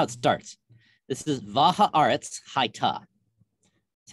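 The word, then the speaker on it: והארץ היתה: here it is in the hebrew this is how it starts this is vajaaret's haita that's how you say that this is not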